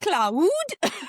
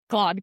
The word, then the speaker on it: Claude: Yeah, I remember last year you didn't even know how to pronounce his name. Really? Yeah, in our episode you're like, Cloud. Oh yeah. And now Claude.